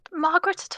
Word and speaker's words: Margareta: Do you know where I could find Margaret at all? Well, technically it's pronounced Margareta, but it would be just Margaret.